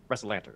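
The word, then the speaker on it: Rassalantar: trip - where are we going how it's pronounced errs wrestle at wrestle enter wrestle Lanter okay yeah that right what would how would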